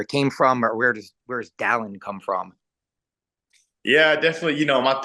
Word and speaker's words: Dallin: Is Dallin. No one can pronounce it whenever I leave Utah.